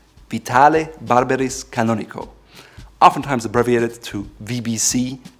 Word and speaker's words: Vitale Barberis Canonico: Last but not least, there's another Italian cloth weaver by the name of Vitale Barberis Canonico. Vitale Barberis Canonico.